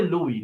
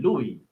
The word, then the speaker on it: Luis: How do I pronounce Luis? No, I'll say Louis. Louis, right? Good afternoon. No, Louis. Yeah, Louis.